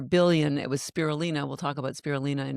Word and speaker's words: spirulina: So I call spirulina spiritualina. Yeah, That's my algae story. she gave me that note, and that's how I remember how to pronounce it correctly.